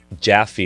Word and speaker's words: Jaffe: So is an old biblical word for jewel in Hebrew, and then Jaffe is actually pronounced Jaffe in Hebrew.